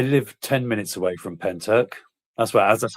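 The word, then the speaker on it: Pentyrch: Um I I live 10 minutes away from Penturk. That's what that's how it's pronounced. Penturk.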